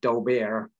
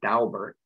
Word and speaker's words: Daubert: issues you may not know don't call it Dober the family pronounces it Albert that's how they pronounce it and you may